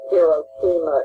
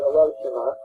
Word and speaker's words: Hiroshima: We called it Hiroshima in those days. Now they pronounce it Hiroshima.